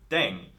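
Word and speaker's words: 땡: do your thing on the air thing RM is now playing with language now the pronunciation of Deng is similar to Thang which is the slang of thing in English last but not least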